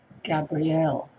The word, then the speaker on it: Gabriel: communication is of course Archangel Gabrielle or or Gabriel depending on how you want to pronounce it so that's my blessing